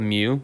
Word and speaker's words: mu: It's called mu. It's spelled M-U. It's a Greek letter. It sounds just like the Pokemon Mew, yes.